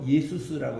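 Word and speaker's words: Ἰησοῦς: 그거 이제 유대인들이 한 거고, 요거를 예수아를 헬라 말로 예수스라고 이렇게 발음해요. 예수스 헬라 말로는. 그리고 이제 본래 히브리 말은 예수아.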